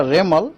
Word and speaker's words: Remal: और साइक्लोन जब बनेगा, साइक्लोन बनने का बाद उनको नाम होगा रेमल, रेमल प्रोनाउंसिएशन होगा रेमल, उसका स्पेलिंग है REMAL, रेमल।